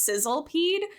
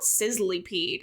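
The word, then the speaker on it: Sizzlipede: on your sizzly peed I always read it as Sizzle peed but it's spelled sizzly peed and that really deeply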